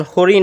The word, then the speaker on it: হরিণ: সেটা দন্তন্য হয়ে যাবে যেমন হরিণ রয়েছে হরিণ হরিণ এটা মধ্যন্য আছে উচ্চারণেটা কি হবে উচ্চারণে এটা দন্তন্য হয়ে যাবে হরিণ যদি এখানে থাকতো এখানে